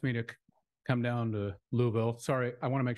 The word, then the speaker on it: Louisville: when I came down I tried to explain people like it's a one-syllable town um I don't want to put too many syllables in there you'll know I'm a foreigner